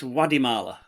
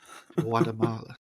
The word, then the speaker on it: Guatemala: The T is a D and the E is loud. There's no sharpness. It's Guatemala. Guatemala, yeah. That's it, Guatemala.